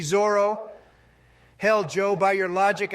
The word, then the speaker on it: Zoro: I'm not going to listen to takes from imbeciles who pronounce it Zolo. That's what Viz says it is, you numbnuts. That doesn't change that it's a dumb fucking translation. We all know it's supposed to be Zoro.